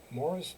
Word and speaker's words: Moeris: Morris Dancing, but Morris is spelled Moeris.